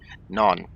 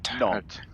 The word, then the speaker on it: Nantes: Nantes. Nantes. So in Afrikaans, it's like saying good evening. That's the Afrikaans word for good evening. Nantes, goeienaand. See, good evening. Anyway, okay, Nantes.